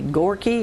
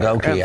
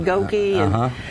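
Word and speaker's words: Gokey: And American Idol finalist Danny Gorky, is that how you pronounce that? He's going to be there. Goki, I believe. Goki. Yeah, Goki.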